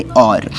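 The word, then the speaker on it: hour: तो अब यहाँ पर देखिए, पहला अल्फ़ाबेट तो हमारे पास एच है जो कि कॉन्सोनेंट है, लेकिन इसकी प्रोनाउंसिएशन कैसे है? और, तो ओ से स्टार्ट होती है pronunciation, that's why we will use an article with और।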